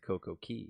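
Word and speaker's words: CocoCay: doesn't make sense either perfect day doesn't rhyme with Coco Key exactly it would have to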